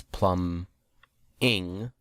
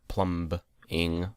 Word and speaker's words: plumbing: it's plumbing and jetpacks having trouble saying plumbing because it's a silent B which I guess is their little way of saying hey here's your spelling lesson for this episode it's plumb Eng not plumb Bing movie